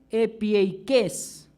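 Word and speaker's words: ἐπιεικής: Del griego epieikes, con K y acento en la E, gentileza responde a ser amable, a ser apacible, a ser suave, a ser moderado.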